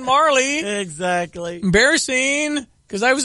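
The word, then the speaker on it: Majerle: I went to the internet for Dan Majorly's pronunciation, and it was wrong. It's Dan Marley.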